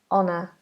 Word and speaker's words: honour: Honest, honour. Both are without an H.